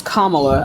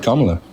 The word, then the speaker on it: Kamala: bague first of all first of all it's Kamala I don't know why you people cannot pronounce her name right I said Kamala no you did not you said Kamala um so like let's let's continue this right